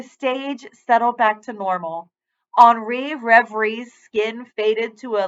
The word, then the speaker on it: Henri: My name is Henri. He pronounced his name O-N-R-E-E.